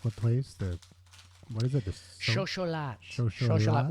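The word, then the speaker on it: xocolatl: Xocholat, which is the Aztec pronunciation, xocho, of chocolate.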